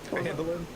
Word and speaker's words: Phandalin: How do you pronounce it? Come on. Phandalin.